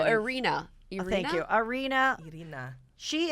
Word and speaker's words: Irina: Irina.